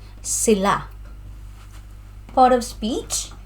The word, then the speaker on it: sila: So pronunciation, sila is on the second syllable, sila.